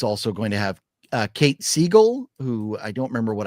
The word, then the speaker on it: Siegel: And it's also going to have Kate Siegel, who I don't remember what I know her from, but I do. That's his wife. Kate Siegel. Yeah, not Katie Seagal, but. Am I getting the name wrong?